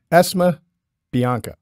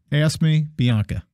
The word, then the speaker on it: Esme Bianco: Esme Bianco. Esme Bianca. Esme Bianca. And you said it's spelled how?